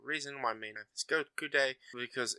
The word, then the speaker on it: Goku: With the Sino-Japanese system, pronouncing 5 in Japanese sounds like go, while 9 is pronounced like ku. Put them together and you get Goku.